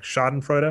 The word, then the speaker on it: Schadenfreude: a little bit of I think the pronunciation it's a German word is like schadenfreude ax which is like